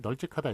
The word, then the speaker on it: 널찍하다: 리을 비읍 중에 앞에 걸로 소리 나기 때문에 널찍하다 이렇게 써주는 게 맞고요.